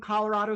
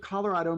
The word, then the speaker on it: Colorado: that the Spanish adjective Colorado means colored red or ruddy. Because it is a Spanish word, one would think it would be pronounced Colorado.